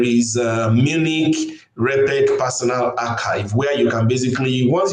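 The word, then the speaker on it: arXiv: One of them is archive. A RX IV it is spelled where a R is small letter, X is capital I and V are small letters.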